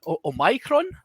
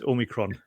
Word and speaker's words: omicron: our good friend uh oh micron i believe is the the greek pronunciation because it's based on that so um but uh yeah you've got to pronounce like transformer john that's it's omicron you can kind of